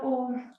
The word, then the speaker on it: ओम: एक बार ओम, ओम की ध्वनि करेंगे। ओम की ध्वनि में आ उ और माँ का उच्चारण करेंगे और फिर गायत्री मंत्र।